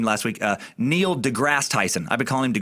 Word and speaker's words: deGrasse: I mispronounced a dude's name last week, Neil deGrasse Tyson. I've been calling him Degrassi as if he's the fucking star of Degrassi